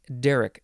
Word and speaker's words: derrick: 1752 uh and yes Derek first syllable is emphasized one a hoisting apparatus